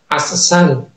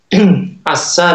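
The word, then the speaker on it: عسّال: Begitu cara membacanya, Asal. Asal ya, ada tasydidnya.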